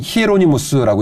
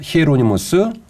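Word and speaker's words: Hieronymus: 성 제롬이라는 분이 있는데 라틴어로는 히에로니무스라고 읽어요 히에로니모스 성제롬이 같은 분입니다 제롬은 영어식 표현이고 히에로니모스는 라틴어시 표현이거든요 성 제롬이라는 분이 계셨는데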